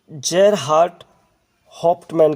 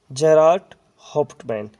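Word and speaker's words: Gerhart Hauptmann: The viewers एक play होगा और इसको लिखा है दोस्तों जेरहार्ड हॉफ्टमैन के द्वारा। तो मैं स्पेलिंग लिख कर बताता हूँ GERHART जेरहार्ड और HAUPTMAN जेरार्ड हॉफ्टमैन। Clear friends.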